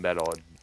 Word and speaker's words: Meddle: The album Metal, Right. which by the way is spelled excuse me, MEDDLE.